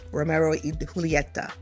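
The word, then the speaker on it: Romeo y Julieta: We we call it Romeo and Juliet but they pronounce it Romero Julieta because it's Spanish, right?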